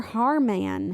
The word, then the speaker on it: Haarmann: Haarmann. And I'm saying it weird because look at how it's spelled. Haar. M-A-N-N. Haarmann.